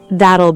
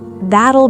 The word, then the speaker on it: that'll: Instead of asking for a substitution, that'll be the total price. Pronunciation drill. Let's slow down the phrase. That'll be $620. Notice the soft t sound in that'll.